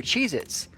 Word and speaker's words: Cheez-It: end it's a Z, and it's just Cheez-It. It's not Cheez-Its with a Z on the end.